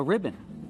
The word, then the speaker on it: ribbon: It's two syllables. Put the stress on the first syllable.